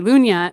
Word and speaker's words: Lunya: all this stuff so there's a word in Swedish that's that is basically Lunia but it's lu GNA Americans would call that lug nut yeah but I spelled it phonetically and it means calm